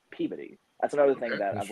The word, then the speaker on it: Peabody: It's not pronounced Peabody, it's Peabody.